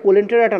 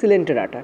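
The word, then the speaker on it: Coelenterata: Actually এটা কোলেন্টেরাটা না, এটা গুগল থেকে করেছে বলে এরকম নিয়েছে, অ্যাকচুয়ালি হয়েছে সিলেন্টেরাটা, ঠিক আছে, সিলেন্টেরাটা, ঠিক আছে, সিলেন্টেরাটা এইভাবে উচ্চারণ করা হয়।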